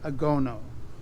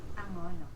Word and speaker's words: Angono: And so this town is called Angono. Angono. Yeah, I mispronounce it. It's Angono. Yeah, Angono. Angono.